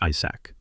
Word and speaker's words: Isac: Annoyed, he snapped back, aggressively, reminding them that it's pronounced Isac, plain and simple.